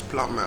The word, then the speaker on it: plumber: the be in plumber is silent so the worse bonus plumber and not plunder but it'd be in thimble is not silent like I told you English us a number of rules and English also has a number of exceptions to it number of rules so why the big thimble is pronounced and why to be in plumber is silence there is no necessary